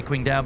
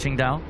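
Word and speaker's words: Qingdao: I say Quing Dao, but I think it's Ching Dao.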